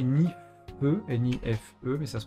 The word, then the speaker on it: NIFE: Alors ça s'écrit Nife, N-I-F-E, mais ça se prononce Nife parce qu'en